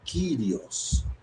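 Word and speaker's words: κύριος: Porque senhor é uma palavrinha grega chamada kirios que ela que tá aqui o o trecho grego é essa esse pedacinho aqui cu curio. Tá vendo? Pronuncia kirios. Kirios.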